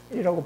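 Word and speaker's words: 見: 이와 같은 것은 예, 이와 같은 것은 하늘 같고 땅 같고 영원한 그런 지속되는 그런 마음을 가지면이이 견자는 견이라고 하지 않고 현이라고 발음하는데요.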